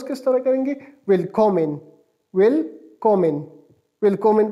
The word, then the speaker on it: Willkommen: Welcome को pronounce sorry spell इस तरह करते हैं, WILLKOMMEN, और इसको प्रोनाउंस किस तरह करेंगे, वेलकॉमेन, वेलकॉमेन, वेलकॉमेन प्रोनाउंस करेंगे।